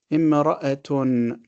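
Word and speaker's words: امرأة: And each one of them ends with a ta marbuta that we pronounce as a ha when we stop. When we continue or we connect, we say ayatun, jannatun, imra'atun.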